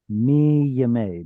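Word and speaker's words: מימי: Do you pronounce the yod in mime? Is it may or m yay? It should have it should have been me yay because yay is the construct form uh the standard construct form days of yay.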